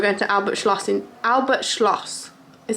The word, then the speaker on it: Albert Schloss: doing tonight we're going to Albert Schloss in Albert Schloss is how you say it in town I've